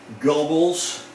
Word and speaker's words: Goebbels: his name is joseph goebbels or gobbles i know there's not an r in there but that's how you pronounce it this is joseph goebbels